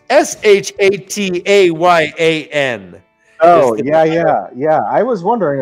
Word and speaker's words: shatayan: we have a card for it, but Cliff, pronounce this. It's Shataayan. Oh, yeah. I was wondering about that. I didn't even know what that was. They just throw these words at you. Shatayan.